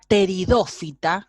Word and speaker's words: pteridófita: Una pteridófita, que se escribe P, empieza con P y T, ¿sí?